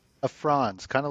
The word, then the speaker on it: Franz: Is that Am I pronouncing that correctly? France. A France. Kind of like the box one the country. Yeah, France.